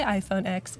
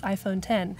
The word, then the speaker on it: iPhone X: Jan Eric says it always bothers him when people say iPhone X. It's iPhone 10. That's how you pronounce it.